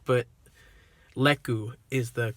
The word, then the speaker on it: lekku: mantras her head tails her leku they're called leku not lucas that i figured i was pronouncing it wrong because luca it does sound like it could be correct but leku is the correct pronunciation and spelling so yeah